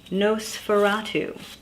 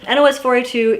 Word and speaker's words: NOS4A2: it is joe hill's nos4a2 or nosferatu if you prefer i usually just spell it out i don't know why i i don't think it matters nos 42 is about a young